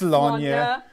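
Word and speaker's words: Slaanesh: Our Brit wrote my notes for me and was like, it's Slanya. And then be sure to pronounce it Warhammer 40,000.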